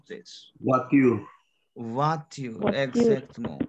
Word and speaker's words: voiture: Voiture. Voiture, exactement. Why voiture? Because OI sound is wa in French. We have, yes, and we have E sound is a.